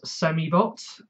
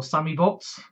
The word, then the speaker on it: Semibot: I got Miniforce X Samibot, or Samibot, depending on the pronunciation. It's spelt Semibot, because when I bought this it was S-E-M-I. Some people say it's Sammy, but it depends. I think on the English version they changed his name to Sammy, but on the Korean version it's Semi.